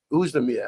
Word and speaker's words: Oezdemir: But, and you could see what, how do you pronounce his last name again? Oezdemir.